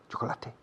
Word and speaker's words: chocolate: Chocolate. Chocolate. Son dos sílabas.